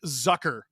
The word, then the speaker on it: Zucker: Jason Zucker. Rhymes with pucker.